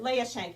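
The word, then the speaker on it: Leia Schenk: and spell it just so we have it? Leah Shank, L-E-I-A-S-C-H-E-N-K.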